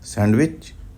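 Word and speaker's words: sandwich: हैं सैंडविच कहते हैं इसके तीन उच्चारण है सैंडविच सैंडविच सैंडविच सन और विच सैंडविच और क्यों है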